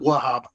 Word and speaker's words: Wahab: Fatima Wahab. It's usually first syllable in Arabic.